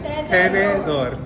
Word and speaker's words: tenedor: Tenedor. Like tennis. Tenedor.